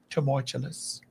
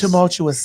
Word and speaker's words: tumultuous: Turmoilous. Wait a minute. Say it again. Turmoilous. Troublesome times ahead. Say it again. Tumultuous. Tumultulous.